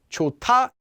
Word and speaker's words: 좋다: ate sound will disappear for example chota to be good would be pronounced as chota and not in fact any time this